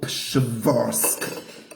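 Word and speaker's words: Przeworsk: There's a little town or village in Poland called Pshvorsk. There you got 3 consonants in a row. A P, a Sh, and a V. Pshvorsk Kegel.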